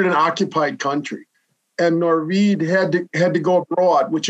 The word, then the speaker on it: Norwid: You want me to pronounce his name Norwid or Norwid? Norwid.